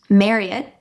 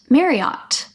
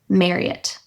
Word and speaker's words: Marriott: So it's pronounced Marriott, like chariot, not Marriott.